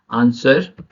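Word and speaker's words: answer: W silent होता है एस के बाद डब्लू साइलेंट होता है एग्जांपल देखेंगे आंसर सर्ड नेक्स्ट वन है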